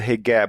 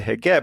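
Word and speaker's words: hijab: you you have what the Egyptians would call the hegab which is you would pronounce that HB I guess in the in in in proper Arabic but in Egypt it's a heab and that's just the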